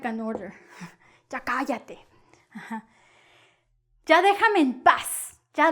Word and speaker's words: cállate: Oh, ya cállate con acento en la A. Primera A, ya cállate.